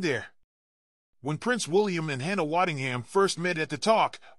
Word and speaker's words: Hannah Waddingham: Waddingham also had a moment of playful defiance when Mike Bloomberg mispronounced her name, calling her Hannah Waddingham. Taking the stage, she corrected him with a smile, "Hannah Waddingham.